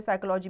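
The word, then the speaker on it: psychology: साइकोलॉजी में आपका P silent है।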